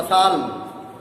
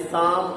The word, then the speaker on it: Psalm: ये देखो PSALM लिखा है ना, इसको पढ़ेंगे तो क्या हो जाएगा पसाल्म, लेकिन इसमें P साइलेंट रहता है और L भी साइलेंट रहता है, यानी शाम ऑफ लाइफ।